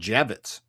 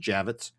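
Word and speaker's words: Javits: Uh it's actually pronounced exactly how it's spelled. Javitz. Javitz. Nothing special about it. I thought it Javitz with a Y. No, just Javitz.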